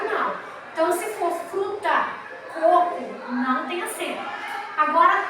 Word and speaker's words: coco: O primeiro co é a sílaba tônica, mais forte.